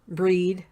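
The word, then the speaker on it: Brigid: that would be like bridging or breed as she's pronounced in Gaelic the collie och care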